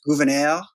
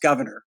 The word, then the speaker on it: Gouverneur: Big debate about how you pronounce the name. It's his mother's maiden name. And so Abigail Adams writes a letter and it says it's pronounced Gouverneur. On the other hand, one of his descendants who taught at the Stanford faculty said it was pronounced Governor.